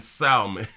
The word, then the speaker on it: salmon: You say, who really pronounces the letter L in salmon?